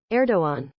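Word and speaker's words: Erdoğan: that ER to go hang on uh pronounce pronunciation erdoan erdoan erdoan okay cool erdogan appoints crypto Professor to Central Bank monetary body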